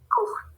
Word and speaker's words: court: Court. Court. Oui, ça va, court. Oui, c'est comme ça. Court. Aunque tengamos una TS ahí, no se pronuncia, ¿ok?